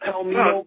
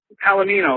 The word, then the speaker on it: Palomino: Palomino, like the horse.